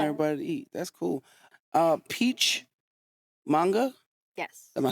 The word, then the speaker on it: Peach Manga: Peach Manga.